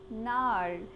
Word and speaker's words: gnarl: Kids, it is pronounced as NARL, in which G is silent.